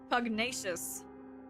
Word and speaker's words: pugnacious: Punchnuyous of you? What even is... Pugnacious? A lot, I'm checking how this is pronounced. Pugnacious.